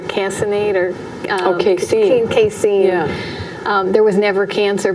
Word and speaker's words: casein: Casein.